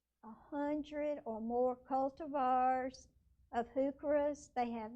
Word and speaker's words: heuchera: Here's another plant that I love and was collecting, heucheras. And I looked up the pronunciation so I could get it right, because I was saying heuchera, and my sister said, no, that's wrong. It's heuchera.